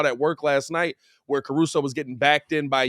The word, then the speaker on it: Caruso: So this is why you have Alex Caruso, yeah, I said it right.